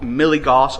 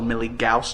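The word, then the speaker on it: milligauss: something that is called milligos or milligaus depending on how you pronounce it. I call it milligos.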